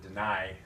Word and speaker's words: deny: So remember to pronounce it deny. I at the end sound.